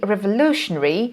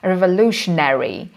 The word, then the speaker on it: revolutionary: So we can see here the vowel elision, and as a matter of fact, we don't pronounce a as a sound, but some students may encounter some problems and they can pronounce it incorrectly, revolutionary, instead of revolutionary.